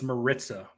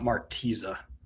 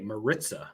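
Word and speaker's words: Maritza: brother how you doing good it's uh it's Marissa by the way not martiza you know I get a lot of slack for mispronouncing names but I deserve a pass in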